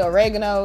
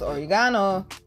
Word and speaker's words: oregano: old and here's another one y'all call it oregano it's actually pronounced oregano so plenty of oregano I know it